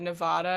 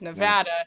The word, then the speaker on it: Nevada: And I accidentally mispronounced Nevada. I said Nevada because they're all very particular about that. It's Nevada.